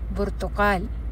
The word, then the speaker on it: برتقال: or ang color na orange sa Arabic ay burtukal. Burtukal. So, paano siya isinusulat in Arabic, or paano yung imla or yung spelling niya sa Arabic? So pag sinulat natin ang salitang burtukal sa Arabic o yung orange ay ba, ra,